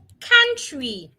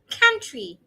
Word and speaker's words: country: It's ca ah ah ca country. It is not ow. The O and U are making two different sounds. It's just a country.